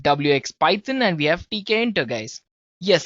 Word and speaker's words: Tkinter: QT we have WX Python and we have TK enter guys yes it's spelled as TK enter right so it's t